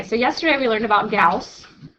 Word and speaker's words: Gauss: Okay, so yesterday we learned about Gauss. Remember Gauss rhymes with mouse?